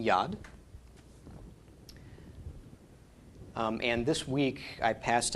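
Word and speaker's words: יד: a Dalek okay so we pronounce the Y of V owed the short a of the comments and then the D of the dalit making Yad and this week I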